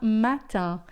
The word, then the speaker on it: matin: Il a soar uma uma tarde e ilu a matan. É matan, né? A gente já viu o iné sempre a então uma manhã a matã.